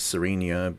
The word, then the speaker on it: Serenia: I'm going to pronounce it Serenia because I believe it's based on the word serene, which means peaceful.